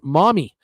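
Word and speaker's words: Maumee: Bill Carroll, hi, Bruce from Mommy, Ohio, pronounced Mommy.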